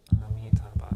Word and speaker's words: Amitabha: Because it's just Amitabha, it's like 4 syllables.